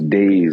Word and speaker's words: Daise: So it's Daise. It's like days of the week, spelled a little funny.